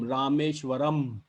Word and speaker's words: Rameshwaram: ending in am um the sound of pronunciation would be am rameshwaram you get the tone rameshwaram so that means those cities